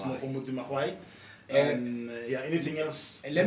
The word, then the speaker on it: Mahwai: 'cause some people get Mahwai wrong. Yeah. It's, Makwai. Nobody say Makwai. it's MHWAI. Repeat that. MAHWAI. Okay. It's the Magwai. Yeah, it's a Mahwai.